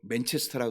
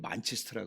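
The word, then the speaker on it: Manchester: 우리 한국에서는 맨체스터라 그러죠. 근데 영국에서는 만체스터라 그러거든요. 네.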